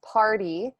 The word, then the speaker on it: Parde: my last name is party it sounds like a birthday party but it's spelled a little differently it's p a p-a-r-d-e